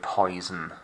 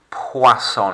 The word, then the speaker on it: poisson: next song um now over the years we've seen that this is a word that gets mistaken for the word poison very often because of how it's spelt um no no clearly not it's not an animal poisson it's this area right here the o and the i together that's oi in english isn't it but sound in french